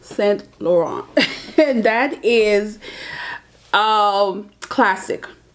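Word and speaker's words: Saint Laurent: your favorite fashion house and why let me pronounce it right it's s lauron and that is um classic um if I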